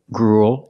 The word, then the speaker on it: gruel: We see with the first three, they're pronounced pretty much the same. Cruel, gruel, and duel. They all have the oo sound plus a dark L. Ool. Like pool and cool.